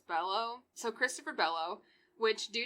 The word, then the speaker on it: Below: suspect is christopher bellow it's spelled below but i read it as bellow so christopher bellow which